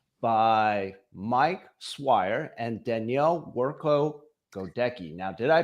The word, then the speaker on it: Cwirko-Godycki: I am joined here today by Mike Swire and Danielle Workco Godki. Now, did I pronounce that right, Danielle? Close. Very close.